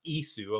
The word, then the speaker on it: Ys: were like oh yeah it's pronounced isu i'm like oh okay